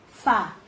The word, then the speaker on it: fábula: E na palavra fábula, tem acento, Fá. Então, Fá é a sílaba tônica, circula Fá.